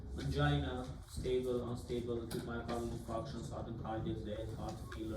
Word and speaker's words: infarction: Please pronounce correctly, not infraction. Infraction, diffraction, it's our physical terms. Okay, infarction.